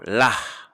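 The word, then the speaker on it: לָהּ: Or lah, to her. I overpronounce the hey because the dagesh is in there. Lah, to her.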